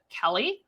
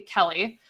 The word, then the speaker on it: Kelle: your KW Connect system called Kelly. I believe I'm pronouncing that correct. It's spelled a little bit different. It's K-E-L-L-E, Kelly, which is your guys' virtual assistant in your system.